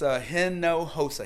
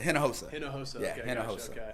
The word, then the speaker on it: Hinojosa: say your last name it's a hen no HOSA hinojosa yeah well I typically